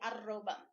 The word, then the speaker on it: arroba: Então, o som de R em espanhol, a gente pronuncia o ra, re, arroba.